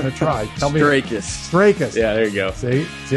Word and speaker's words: Strakis: Strakis. Yeah, there you go. See, I didn't mispronounce it this time because I asked.